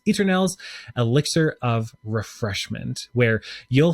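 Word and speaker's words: Eternelle's: it's actually just pronounced Eternals, like Eternals. It's a play on the word eternal, but it's Eternals, Elixir of Refreshment, where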